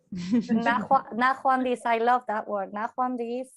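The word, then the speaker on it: ნახვამდის: Yes, Nahwandis. Nahwandis. I love that word. Nahwandis. Gamal No. No. Nahwandis.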